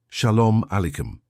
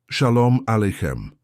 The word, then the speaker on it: Shalom Aleichem: "Shalom Aleichem. It means peace be upon you." "Shalom Aleichem," Klaus repeated, his pronunciation improving.